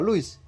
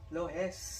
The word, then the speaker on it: Lohuis: Bacanya apa? Louis? Lohes.